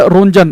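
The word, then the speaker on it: Roentgen: आर ओ ई एन जी टी ई एन। इसके नाम की स्पेलिंग थोड़ी अजीब सी है। हिंदी में भी और इंग्लिश में भी। तो एक्सरे की खोज की है विलहम कनाड रोंजन तो शॉर्टकट में याद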